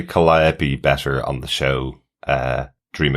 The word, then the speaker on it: Calliope: Main learning point, pronounced Calliope, not Calliope.